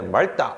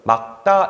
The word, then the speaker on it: 맑다: 있죠 그 다음에이 친구 우리가 굉장히 많이 발음을 오해하는데 맑다 이렇게 발음하는게 많잖아요 그렇게 하시면 안 되고요 막 다 이렇게 발음하셔야 돼요 자이 친구 같은 경우에는